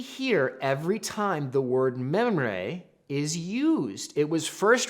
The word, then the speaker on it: Mamre: Now, I can't roll my R's nearly as well as this guy can, but so you can see how the original Hebrew was supposed to be pronounced, or how it is pronounced as a reference.